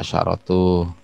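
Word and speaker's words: عشرة: Asyratu. Asyratu apa asyaratu? Coba. Ya asyaratu, ya asyaratu. Ya, di sini baca asyaratu.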